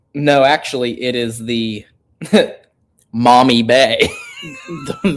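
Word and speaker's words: Maumee: the window it's dark now we can see mommy bay which is a real I mean it's spelled m a u m e.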